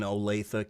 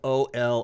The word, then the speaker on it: Olathe: That's a Sunday at Olathe Lanes East here in suburban Kansas City in Olathe, Kansas. It's spelled O-L-A-T-H-E. People look at that and they say, Olathe. No, it's Olathe, for those of you who don't live here.